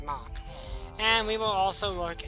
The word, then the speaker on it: Mach: I'm not, well, that is how I pronounce his name, it's just Mach.